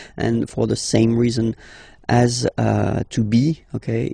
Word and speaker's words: as: Okay, as usual in French, final S is not pronounced. Tu as. Tu as.